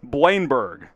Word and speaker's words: Bleijenbergh: Two syllables here. It's Vrenz Blein-Berg.